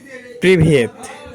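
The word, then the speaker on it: Привет: সালামের অংশ হচ্ছে আপনার হচ্ছে রাশিয়ান শব্দের হচ্ছে প্রিভিয়েত। প্রিভিয়েত অর্থ হচ্ছে সালাম, প্রিভিয়েত অর্থ হচ্ছে সালাম বা হ্যালো। তার প্রিভিয়েত আপনার রাশিয়ান লেখা আছে, তার অর্থ হচ্ছে উচ্চারণ প্রিভিয়েত।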